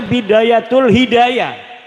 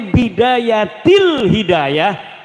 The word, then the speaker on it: Bidayatil Hidayah: Karena deke maca Bidayatul Hidayah. Harus sebab dibacanya Bidayatil Hidayah karena anak huruf jerbe.